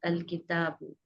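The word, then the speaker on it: ٱلْكِتَابُ: Al-kitabun, this is not the correct word. Al-kitabu, this is the correct word.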